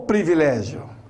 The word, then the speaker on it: privilégio: E aí, privilégio ou privilégio? Não erre mais. O correto é privilégio. Privilégio. Então, são dois is, não tem o e, não é pre, é pri. A sílaba é privilégio, né?